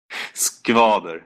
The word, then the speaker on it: Skvader: Skvader. It's a hard pronunciation for Americans.